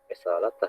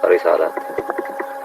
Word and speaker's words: رسالته: Ya, risalatah ya baca. Risalah. Yang sebelah kanan risalah itu riwayat Syu'bah, beda riwayat. Itu yang merah-merah itu teman seperguruannya Imam Hafiz ya, Imam Syu'bah. Jadi Syu'bah risalah D, kalau Hafiz risalah tah.